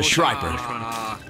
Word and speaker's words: Shriper: This is a Shriper. And no, that wasn't me mispronouncing the word sniper, as if I were eating some food.